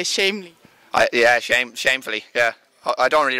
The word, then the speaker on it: Chamney: And it's pronounced Chamney, but I've heard it Chamney, Chamney, Chamney.